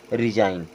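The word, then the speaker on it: resign: होता है विदेशी और आर ई एस आई जी एन यहां भी जी साइलेंट होगा और अब इसे पढ़ेंगे रिजाइन क्या पढ़ेंगे रिजाइन बच्चों इस प्रकार से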